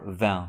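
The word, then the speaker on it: vingt: Now, how do we pronounce the number van? 20. The number 20 is pronounced without the final consonant van.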